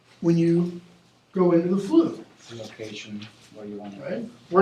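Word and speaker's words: Floo: It's spelled this way, but you have to go into a fireplace chimney, which is called, the thing that goes up, the flue.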